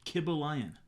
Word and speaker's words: Kybalion: it i think it should be the kib kibba lion oh that's actually how i pronounce that's how he pronounces it that's how it is kibble lion that's perfect the kibble lion and he he